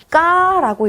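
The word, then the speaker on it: к: 까라고 읽습니다. 까. 키역처럼 영어에서 키역처럼 발음이 나는 게 아니라 여기서는 그 된 소리가 나요. 까라고 읽어주시고 마치 쌍기역에 가까운 발음이 나겠죠?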